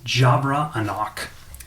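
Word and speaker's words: Javra Anoch: that way um and the last one is jabra enoch the ancestors voice spell it j-a-v-r-a a-n-o-c-h a female half alpha bard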